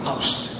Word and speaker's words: ást: Ást.